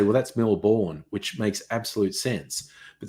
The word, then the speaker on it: Melbourne: weird and yes Chris the proper pronunciation Melbourne if anyone says Mill born it's like what the is wrong with you um uh yes but